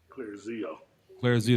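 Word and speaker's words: Clarizio: number two okay SP his name Jay is it's spelled Claire C l a r i z i o clear Z CL Z Jace J A CE right oh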